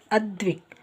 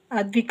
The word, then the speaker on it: ಅದ್ವಿಕ್: ನೋಡಿ ಅರುಂಧತಿ ಹಾಗೆ ಇಲ್ಲಿ ಅದ್ವಿಕ್ ಅದ್ವಿಕ್ ಅನ್ನುವಾಗ ಏನಾಗಿದೆ ದ ದ ಉಚ್ಚಾರ ಬರ್ತದರಿಂದ ಬರಿ ಡಿ ಅಷ್ಟಇದೆ ಇಲ್ಲಿ ಡಿ ಹಚ್ ಇಲ್ಲ ಆಯ್ತ ಹಾಗೆ ಅಭಿಮನ್ಯು ಬಿಹಚ್